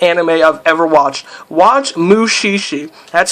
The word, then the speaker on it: Mushishi: Watch Mushishi. That's spelled M. I'll probably leave a description of some of these names actually in the description. But it's M-U-S-H-I-S-H-I.